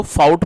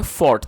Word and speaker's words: fought: बहुत से लोग इसको फाउट पढ़ते हैं जो कि गलत प्रोनाउंसिएशन है, जो इसकी करेक्ट प्रोनाउंसिएशन है वो है फॉट।